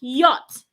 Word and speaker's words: yacht: have it in what like yacht not yach the C and H in this word is silent say yach and not y